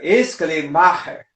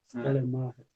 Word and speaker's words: Schleiermacher: E hoje no alemão mesmo, nós temos que dar uma ênfase maior no ma, né? Aí fica Schleiermacher. Schleiermacher, tá certo.